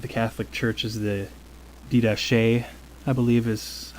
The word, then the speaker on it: Didache: earliest writings of the Catholic Church is the Didache, I believe is how it's pronounced.